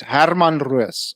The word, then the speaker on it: Herman Roos: It seems Joe still hasn't learned how to pronounce Afrikaans names properly. It's Herman Roos.